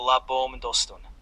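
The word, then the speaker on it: La Baume-d'Hostun: To, čo si napísal, vyslovíš ako La Bom Dostun. Je to malá dedinka v departemente Trom.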